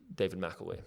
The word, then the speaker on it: David McElwee: Well, I have got your name wrong the whole time. David Mcelwee.